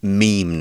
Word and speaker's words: meme: is yeah it's a meme but you can also say mem by the way and that was actually how it was first pronounced when the idea was invented it's just become meme now it's the idea when